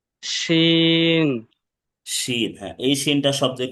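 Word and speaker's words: ش: পড়তে হবে এবং শাসা আওয়াজে উচ্চারণ হবে।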